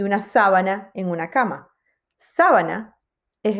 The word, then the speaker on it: sábana: palabras son más rápidas si yo digo sabana y digo sábana son dos cosas diferentes la sabana en África y una sábana en una cama sábana